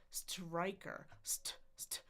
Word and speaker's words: striker: Striker striker. Striker. Striker. Striker. Keep in mind that syllable stress. Start high. Go a little lower.